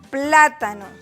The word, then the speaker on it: plátano: Ejemplo, plátano. ¿Dónde está la mayor fuerza de voz o la sílaba tónica de plátano? Pla. Ahí está, de color moradito y obviamente está acentuada. Es una palabra esdrújula.